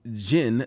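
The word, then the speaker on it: Djinn: well okay before reading masters of Jin the D is silent yes I know I'd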